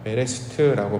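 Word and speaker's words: בראשית: 담아 놓았고요 이거를 이제 창세기를 히브리어로는 베레스트라고 발음을 하는데 그 베레스트 하나님께서 하시는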